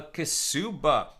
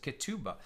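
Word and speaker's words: כתובה: Now we're talking about a kesuba. Some would pronounce it ketuba, which is the marriage contract, right?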